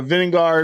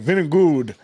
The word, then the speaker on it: Vingegaard: So yeah, so Vingegaard from where the hell is he from? And it's not even how you say his name. It's spelled like it Vingegaard, but it's like Vinegood or something like that.